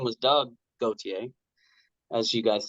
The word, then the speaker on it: Gauthier: they're California and Florida, so they always said Gauthier. Gauthier. But I always knew, because I would have other people come up to me and say, Gauthier, that's Gautier, and.